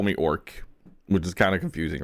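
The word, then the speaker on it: Ark: what you're talking about it's spelled weirdly though it's it's it's um it's a r k okay orc orc or orc orc yeah okay so don't like it's not o RC like we normally would spell how like my people is spelled but like orc it's written here and then you see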